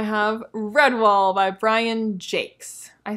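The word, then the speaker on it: Jacques: the time and then i now thought i remembered him saying jaquez but apparently he says it jake's whatever redwall which i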